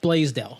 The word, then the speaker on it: Blaisdell: Larry Maris and our special guest today blasdell 7:00 pronounced correctly that's correct yeah all right we